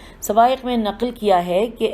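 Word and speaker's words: الصواعق: اور ابن حجر نے سوائق کی ہجے ہے صاد واو الف عین قاف۔ سوائق میں نقل کیا ہے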